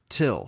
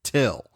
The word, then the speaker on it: Thgil: Till, spelled Thgil, but it's pronounced Till.